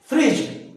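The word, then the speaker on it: fridge: अच्छा, एक common word सबको पता है, इसको क्या बोलते हैं, फ्रिज। डी नहीं बोल रहे, डी यहां साइलेंट, डी यहां साइलेंस, डी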